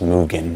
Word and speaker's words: Mugen: on i'm gonna again i'm gonna call it mugen mugen petals it's pronounced mugen i get that i understand that uh but